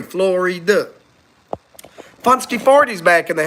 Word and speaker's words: Florida: Again, 3 syllables. America, Florida. 1, 2, 3, Florida.